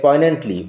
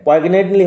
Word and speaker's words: poignantly: Oscar wilds the model মিলিয়নারি ইজ a short story that হিউমারাসলি ইয়েট পয়েন্টেন্টলি, উচ্চারণ লক্ষ্য করো, জি will remain silent, পয়েগনেন্টলি হবে না, পয়েন্টেন্টলি, critics social values and the perception of wealth.